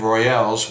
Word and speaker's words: Royales: just a letter difference, it creates a different pronunciation. Royals without it, and Royales with that E.